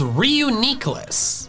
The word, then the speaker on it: Reuniclus: I don't understand the ni sound in the official pronunciation. Whether the first part of its name is from reunite or reunification, neither of those have the E sound.